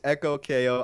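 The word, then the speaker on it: EchoKO: Yeah, They're having a debate yeah. if it's pronounced Ekog or Echo. It is Echo KO.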